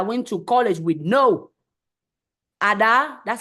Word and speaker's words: Ada: Ada, that's how you pronounce it, is the name that my grandmother gave me.